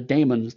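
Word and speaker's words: The Dæmons: going to watch the demons or The Damons depending on how you want to pronounce the AE in the middle of that um there's five episodes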